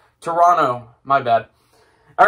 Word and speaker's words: Toronto: So, Toronto. Oh, no, I did the American pronunciation. Toronto.